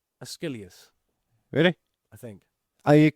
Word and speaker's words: Aeschylus: No, Aeschylus.